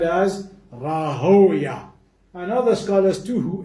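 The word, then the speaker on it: Rahwayh: who was Ishaq ibn Rahoya, and some of them pronounce it as Rahaway. And the reason why some scholars don't like to pronounce it as Rahaway as opposed to Rahoya, why?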